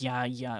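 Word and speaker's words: γιαγιά: We've always pronounced it as yaya in my family. Okay. Yeah, because I know the Y or the G sound in uh Greek can always be a Ya kind of sound.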